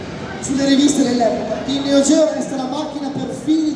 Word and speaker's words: Neo Geo: Ecco, io ho sempre detto Neo Geo, ma in realtà non è la pronuncia corretta, si deve dire Neo Geo, che vuol dire nuovo mondo dal greco. In Giappone lo dicono così.